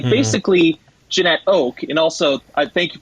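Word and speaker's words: Janette Oke: Like, basically, Jeanette Oak, and also, I thank you for the pronunciation guide in the book. I've been pronouncing it Jeanette Oakey for years and years and years.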